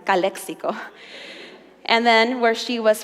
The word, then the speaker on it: Calexico: the Border it's Calexico I'll say it correctly Calexico and then where she was from was Mexico